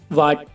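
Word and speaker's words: what: डब्लू के बाद एच है तो ये एच साइलेंट है ऐसे और भी एग्जांपल हैं जैसे वाइट वाइट माने सफेद वाट वाट माने क्या और ऑनर और ववर में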